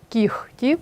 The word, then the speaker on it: кігті: слід завчити на пам'ять у словах легко вогко кігті нігті дьохтю дзвінкий г переходить у глухий х тобто слова транскрибується Таким чином лехко вохко кіхті і вимовляються так само ніхті дьохтю ці винятки треба запам'ятати наступне правило глухі приголосні